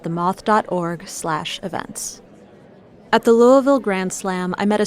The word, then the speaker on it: Louisville: and riding motorcycles whether you're a native of Louisville or someone who says it Louisville a sincere thank you by the way to